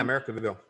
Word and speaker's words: Americanville: Did I pronounce that right? Yeah, Americanville.